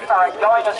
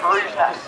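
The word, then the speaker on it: ferruginous: You may have pronounced it as a Farragonis hawk, but you do in fact pronounce it as frugenous.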